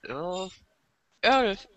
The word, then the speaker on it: Earl: Earl. Ach so, Earl. Okay. Earl. Das ist dasselbe, was man nach dem viel Trinken macht.